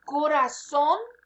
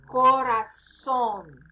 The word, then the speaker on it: corazón: El corazón means heart. Pay attention to the pronunciation there. Z sounds like S in this case. Corazón.